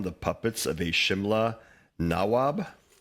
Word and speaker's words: nawab: puppets of a Simla nawab? Nawab is the correct pronunciation in Hindi and in Sanskrit.